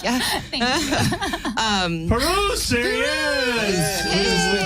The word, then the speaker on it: Pirooz: Well, the way I always remember it is it's just the letter and then the end of kangaroos. Kangaroos. Pirooz. Pirooz.